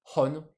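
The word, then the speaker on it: 本: Hon. Du coup, un livre, ça s'écrit comme ça et ça se prononce bah, en sino-japonais, hon.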